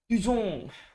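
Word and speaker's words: Toussaint: Tuzen à? Hay Tuzon? Tuzon. Từ gì? Từ đọc là gì? Tuzon. Nghe nó phải pháp tí.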